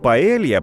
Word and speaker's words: paella: gốc của cái tên "paella", trong tiếng Tây Ban Nha phát âm giống như "para ella".